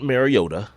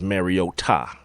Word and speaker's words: Mariota: And I remember Kirk Herbstreit talking about his mom actually calling them and saying, "Please pronounce my son's name right." And it is not Mariota, it is Mariota.